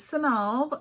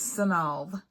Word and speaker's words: Sonov: of the video um so my name is sonov sonov it means a gift from the Sun my Mommy gave it